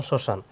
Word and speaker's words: শ্মশান: শুরুতে এখানেও শব্দের শুরুতে মফলা তাহলে মফলা কি উচ্চারণ হয় না যেমন শ্মশান শসান এখানে শ্মশান বানানগুলো হছে তালব্য সর উপরে কি